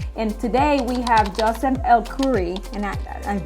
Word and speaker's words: Elkourie: If you have not, this is an amazing program that Compass is exclusive to Compass, and today we have Joseph Elkourie, and I butchered your name right there.